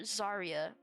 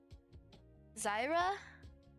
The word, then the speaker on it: Zyra: So it's like Swain, LeBlanc, and is it Darius or Zarya? Not Zarya. Zaya. Not Zaya. Frick, how do you say her name? Poisonous Ivy, but League of Legends. I forgot her name. Zyra?